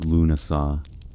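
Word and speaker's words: Lughnasadh: Lugnasad, pronounced Lunasa, the Celtic festival honoring Lu, the god of light, craftsmanship, and war.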